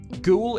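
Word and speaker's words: Goole: what about ghoul well ghoul is a market town in yorkshire ghoul is phonetically the same as ghoul a type of ghost and ghoul comes from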